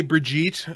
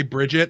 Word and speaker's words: Brigitte: So, and by the way, I say Brigitte. I'm not going to say Bridget.